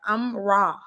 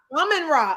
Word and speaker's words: Amon-Ra: even talk now, but I was working on pronouncing his name right. Amon-Ra. Look, I was close. Amon-Ra.